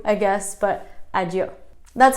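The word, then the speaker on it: adio: of saying goodbye there is I do I do kind of like old school adieu I guess but I do that's how my family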